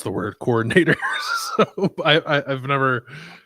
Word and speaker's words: coordinator: Um, Doug, can you please stop pronouncing it coordinator? They are coordinating the offense defense like as pronounced in hand eye coordination. They are co-ordinators, not coordinators.